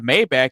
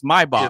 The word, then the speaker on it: Maybach: Just like just like we all know what a Mayback is, but that's not how you say it. It's Maybach. It's Maybach.